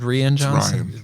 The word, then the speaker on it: Rian Johnson: And is it Rain Johnson, but it's spelled Rian Johnson? Ryan Johnson with an I.